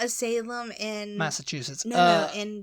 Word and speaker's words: Salem: there is there are some people who would pronounce it St Louie and the next one Salam salum I used to say salum yeah what salum yeah it's like Oh The